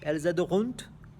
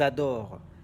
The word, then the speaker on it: adorent: du pluriel, elles adorent, elles adorunt, non, elles adorent. ENT pour un verbe conjugué ne se prononce pas.